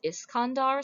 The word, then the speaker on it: Iskandar: The pronunciation now is Iskandar, so sometimes you'll hear them called Iskandar, various variations on that.